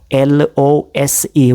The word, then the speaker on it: lose: L-O-S-E with a single S. It's what? Lose. Lose. There is what? Z sound. Okay. You would definitely notice some sort of vibration in your neck while pronouncing it.